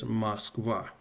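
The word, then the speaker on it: Москва: And perhaps another example, the capital of Russia, Moscow, is Moskva. So because of the last letter ah is stressed, it's not Moskva, it's Moskva. So I is the first O is unstressed, it's Moskva.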